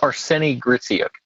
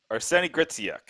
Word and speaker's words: Arseniy Gritsyuk: Gritsyuk is Arseniy Gritsyuk. Arseniy Gritsyuk. Okay. Yep. Yeah, after the Vukojevic disaster that I said his name wrong during his interview, I think that I'm